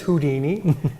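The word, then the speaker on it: Whodini: And we thought this was very unique because it's spelled W-H-O-D-I-N-I, kind of like the who of an owl plus the Houdini.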